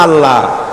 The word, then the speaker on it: আল্লাহ: না কেউ বলে না আল্লাহ আল্লাহ পাকের উচ্চারণটা হচ্ছে আল্লাহ পাকের নাম হচ্ছে আল্লাহ মুখটা একটু গোল হয়ে যাবে বলেন আল্লাহ আল্লাহ পৃথিবীতে বিভিন্ন জাতি তার